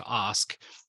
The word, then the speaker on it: Ask: My last name is actually pronounced Osk.